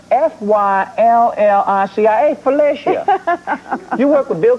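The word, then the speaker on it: Phylicia: and you work with Felicia Rashad, Right. and That's Felicia. Felicia Rashad. Rashad. Felicia Rashad. No, it's Felicia. No, that is pronounced Fyllicia.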